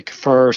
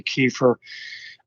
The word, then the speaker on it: kefir: almond coconut soy rice i don't know how you pronounce this kefir some say kefir some say kefir those are the primary